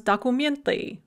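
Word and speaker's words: документы: are going to be that hardback ue sound for masculine and feminine hard stem nouns so dakumiant a document or an id becomes documently with the hard mama mama becomes mommy with that hard e and then if you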